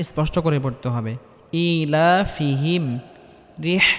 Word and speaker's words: رحلة: ইলাফিহিম, রিহ এখানে বড় হাটি গলার মধ্যে হালকা চাপ দিয়ে উচ্চারণ করতে হবে। রিহ এখানে ছোট হা পড়লে হবে না, এখানে বড় হা পড়তে হবে।